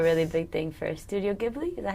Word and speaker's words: Ghibli: Toronto, like, me and my sister have a really big thing for Studio Ghibli.